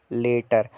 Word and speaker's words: latter: वो ब्रैकेट में जो है उसकी प्रोनाउंसिएशन है, मतलब कैसे स्टार्ट होगी, लैटर।